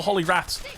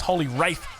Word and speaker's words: Holy Wrath: She doesn't have any more Holy Wraths. I did incorrectly pronounce this as Holy Wraith previously.